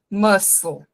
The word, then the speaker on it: muscle: Esse M de mãe, um S de maçã, mas e um L aqui no final. Muscle, muscle, ok? Please, don't make mistakes with this pronunciation.